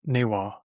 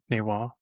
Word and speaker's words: Newar: And due to vowel and consonant shifts, the pronunciation of the Sanskrit nepala shifted to neada, which in modern nir is pronounced naywa, naywa.